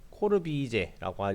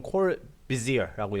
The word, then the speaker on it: Le Corbusier: 자, 이 프랑스에서 이게 리가 아니라 르라고 읽어요. 이제 코르비제라고 하는 사람인데 이건 뭐 영어로 읽으면 코르비지어라고 읽어야 되겠죠. 근데 코르비제라고 읽어야 되겠죠.